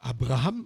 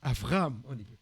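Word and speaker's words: אַבְרָהָם: bê on prononce B lorsqu'il y a pas de point on pronce ve par par exemple on dit pas Abraham on dit Avraham allez là le serviteur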